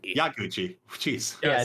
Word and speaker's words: Yaguchi: Serious answer is Yamaguchi. Yaguchi. Jeez. Yeah, I said his name wrong both times.